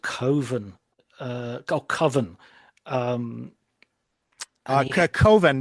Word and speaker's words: Coven: make a film called Coven, um, and he Coven, because coven rhymes with oven, and he didn't like that.